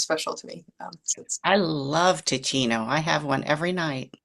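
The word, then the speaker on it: Teeccino: And how do you spell it? Ticino. It's Teechino.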